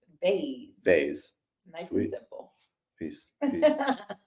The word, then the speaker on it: Bays: Claire how do you say your last name baze baz nice and simple peace peace peace sell